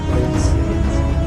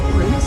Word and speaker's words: Pramas: I should mention it's pronounced Pramas. I'm sorry. My name is pronounced Pramas.